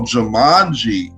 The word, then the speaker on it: Jumanji: Yo, Jumanji. That's how you pronounce it. Jumanji, my bad, Jumanji.